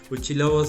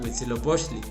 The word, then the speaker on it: Huitzilopochtli: nacimiento de huchi lobos porque no sabían a veces pronunciar no el náhuatl huichilobos era huitzilopochtli dice Entonces esta fiesta era